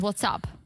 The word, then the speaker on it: WhatsApp: app yeah yeah but i know but it's pronounced what's up what's up i don't normally correct you but